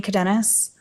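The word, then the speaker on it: Cadenas: you hello your honor my name is cadenis all right can you spell that last name c-a-d-e-n-a-s okay go ahead also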